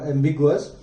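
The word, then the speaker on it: ambiguous: इसका एग्जैक्ट जो प्रोनाउंस होगा वो होगा एम्बिगुअस।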